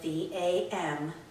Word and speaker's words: VAM: With your attention here on the sacral chakra, we're going to use the seed sound of VAM, spelled V-A-M, but pronounced VAM.